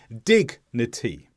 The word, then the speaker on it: dignity: Dignity. When there are 2 or more syllables and the G and the N split the syllable, then we usually would say the G sound.